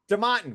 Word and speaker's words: DeMartin: Like Bobby DeMartin, the most Bostonian DeMartin, which is really how it's pronounced. It's not like us throwing the accent on it. That's really it.